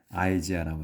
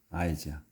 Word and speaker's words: Isaiah: 이제 우리는 이사야라고 하는데 영어로 이제 할 때는 아이지아라고 합니다. 아이지아. 이 아이를 영어에서 그냥 아이로 발음을 해요.